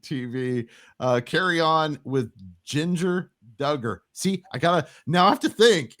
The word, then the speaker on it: Jinger: got Ginger Duggar or as I like to call her Jinger because her name is spelled with a Jinger how is that Jinger j-i-n-g-e-r Ginger no it's Ginger I didn't know